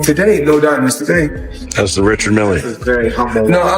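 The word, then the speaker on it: Richard Mille: How's the Richard Millie? Very humble. No, I like to call this Well, they people pronounce different ways. Rashard Mill is what my jeweler told me.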